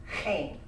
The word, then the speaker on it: chen: I also like the other theological word, chen. And chen, you might spell it C-H-E-N. Chen, that's why I sound like I'm clearing my throat all the time.